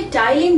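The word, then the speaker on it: ptyalin: ये टाइलिन नाम का एंजाइम बनाती है। अब यहाँ पे स्पेलिंग को ध्यान देना, पी इसमें साइलेंट है।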